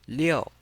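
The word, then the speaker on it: 六: And we pronounce it with a fourth tone leo.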